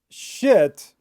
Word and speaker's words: shit: Tip number 3, try to say sheet and shit by exaggerating the vowel sound. So sheet is very long and shit is very short.